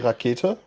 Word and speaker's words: Rakete: So it's like we would say Rakete.